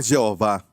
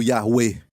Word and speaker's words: Yahweh: Não é Jeová. Ninguém sabe a pronúncia, mas como que eles falavam, se escreve assim, ok? Yahweh, eu creio, pessoalmente, que é falado Yahweh.